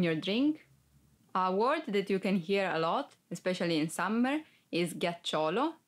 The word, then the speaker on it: ghiaccio: mano 1 2 3 4 5 ghiaccio Eyes ghiaccio speaker for because If You Don't pronounce G as and hardcound like Go e